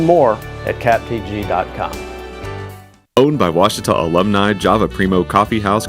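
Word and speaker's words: Ouachita: Oh, Wichita. Achita. Oh, Wachita. Is it pronounced Oakita? Searching for Washita Baptist University. Back in Texas, everybody pronounces it Wichita, but really, it's Washita.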